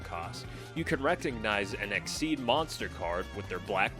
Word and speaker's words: XYZ: XYZ monsters, pronounced Exceed, can be summoned by